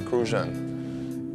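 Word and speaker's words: Crucian: You got to say it like that. Krusian.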